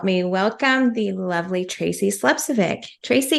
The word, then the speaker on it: Slepcevic: So, please help me welcome the lovely Tracy Slepcevic.